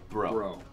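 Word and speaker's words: Breaux: So his last name is French, just to give you the background. It's how Bricks. Do you spell it? B-R-E-A-U-X. Yeah. Bro.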